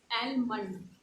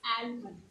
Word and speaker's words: almond: It's not almond. It's almond.